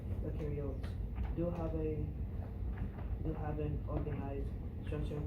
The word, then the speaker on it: eukaryote: You can remember that EU rhymes with true and new animals, plants, fungi, and viruses are examples of eukaryotes.